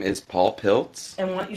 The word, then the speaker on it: Pilcz: My name is Paul Piltz. And why don't you spell it?